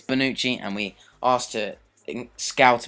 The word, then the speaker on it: Bonucci: found leonardo da bonucci i was going to say dabushi but it's bonucci and we asked her